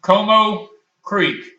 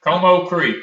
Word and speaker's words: Comeaux Creek: Comeaux Creek did the review on her cookbook. That's we'll repeat it for you. Comeaux Creek. And it's spelled COMEAUX or something, or similar. But it's Comeaux Creek, and she might be on.